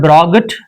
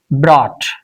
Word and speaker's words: brought: Now it's not brought it's brought because look at this point U is present.